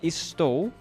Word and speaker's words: estou: Estou is sometimes pronounced with SH, like estou.